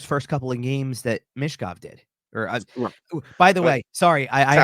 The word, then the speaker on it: Michkov: The pronunciation as on the broadcast, because this is how he says his name. It's more Michkov. So give it that Mish, like that long E sound instead of less Mitch.